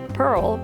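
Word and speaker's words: purl: And unfortunately, when you pearl, pearl rhymes with curl.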